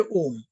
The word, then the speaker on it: ओम: ही होता है, और वो लंबा प्रोनाउंस्ड ओम होता है, जिसमें अ और म छोटे होते हैं और बीच का ओ बड़ा खींचा हुआ रहता है। ठीक है ना, ये ओम।